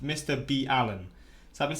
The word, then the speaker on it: MrBallen: From what I've been told in the comments, it's actually pronounced Mr. B. Allen.